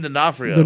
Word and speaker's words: D'Onofrio: you're better at it than I am Vincent D'Onofrio not for you oh yeah that oh yeah is the rose method D'Onofrio but yeah so he you know this is